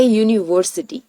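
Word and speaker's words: university: नहीं जैसे कि ए यूनिवर्सिटी क्योंकि यहां पर यूनिवर्सिटी का उच्चारण यू से होता है सो दैट्ची के अंदर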